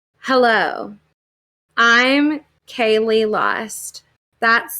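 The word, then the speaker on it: Kayleigh: pops up and um she says hello i'm kaylee lost that's spelled k a y l e i g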